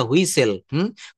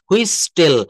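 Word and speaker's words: whistle: আমরা অনেকেই কিন্তু এই শব্দটাকে হুইস টেল বলে ফেলি। আসলে আমাদের প্রোনাউন্সিয়েশন বা আমাদের সিমিলার সাউন্ডিং ওয়ার্ড বা কোথায় আমাদের কোন লেটার সাইলেন্ট লেটার বলে এটাকে। হুইস টেল। এই টিটা হচ্ছে এখানে সাইলেন্ট থাকবে।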